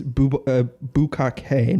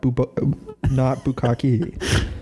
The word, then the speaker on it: Bukkake: And then she said, by the way, it's Bukkake, not Bukkake. Yo, This is bullshit.